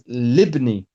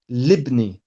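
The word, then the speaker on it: لِابْنِي: So it becomes libni. Even here, that first letter of ibnu is hamzatul wasl. We don't pronounce it.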